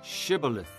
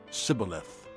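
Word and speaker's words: Shibboleth: They said, "All right, say shibilith." If he said cibilith, because he could not pronounce the word correctly, they seized him and killed him at the fords of the Jordan.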